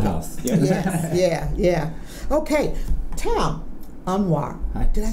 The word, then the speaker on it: Anwar: Okay, Tom, Anwar.